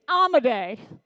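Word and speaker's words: Amodei: anyone okay Dario amade say his name with me amade amade a lot of people say it wrong Dario amade was one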